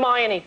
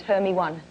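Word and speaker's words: Hermione: the pronunciations of Hermon how do you say her name Herm hermion good my favorite pronunciation though is hery one hermy one exactly a kid said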